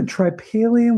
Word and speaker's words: tripalium: The tripalium was not a tool for farming. That's how you pronounce that.